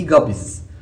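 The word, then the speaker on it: guppies: منها او نهري منها لكن مش الجب دي جابيز ده النطق الصح اسمهم جابيز الجبيز تفصيل تفسير او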